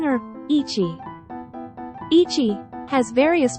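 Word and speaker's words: 一: Ichi has various pronunciations, making it the trickiest one. It must be having a hard time. The basic pronunciation is the onyomi, ichi.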